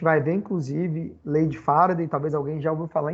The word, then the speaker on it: farad: A gente vai ver, inclusive, lei de Faraday, talvez alguém já ouviu falar em Faraday. Mas a unidade de capacitância não é o nome dele com a pronúncia correta, Faraday. É Farad.